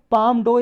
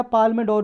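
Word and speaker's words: Palme d'Or: First topic है पाम डो या पाल्मे डोर भी प्रोनाउंस करते हैं इसको, ये प्रीलिम्स के लिए इंपॉर्टेंट है सर।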